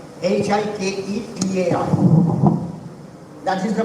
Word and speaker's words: hiketai: So that's why it will be pronounced as hiketai. H-I-K-E-T-A-I.